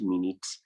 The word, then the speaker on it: minute: we have it in minute also note that for the word minute it can also be pronounced as minute meaning something literal or something that is inconsequential or something that is not so important so when you see